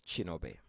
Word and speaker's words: Kinobe: My name is Chinobe with a K, Kinobe. In my home country, Ki is pronounced as a Chi.